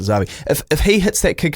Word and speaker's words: Xavi: at the end there, First name is like the Spanish footballer, Xavi. But if he, I think they pronounce it Xavi, if he hits that kick at the end, your whole rankings would be up.